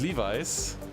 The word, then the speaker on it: Levi's: did you know that in germany we were the clothes manufacturer we said levis and not levi's and i think it's called levi's is that correct and not leves we sent levis to